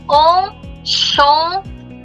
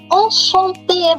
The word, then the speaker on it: enchanté: Enchanté.